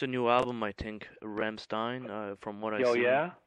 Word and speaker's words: Rammstein: Is it pronounced Rammstein? Rammstein, that yeah, band.